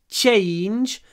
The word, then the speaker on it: change: When you pronounce change, remember, it's a sh, change, and try to pronounce a lot of и краткое y before the voiced n.